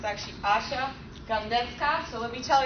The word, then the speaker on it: Asia: And yes, it's spelled Asia. They named the continent after me, but totally mispronounce it every time.